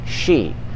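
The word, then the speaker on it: sidhe: right they're called the the spell is s-i-d-h-e but you pronounce it she but it's not she like a feminine she she in english or sh i because then you might say shy i don't know but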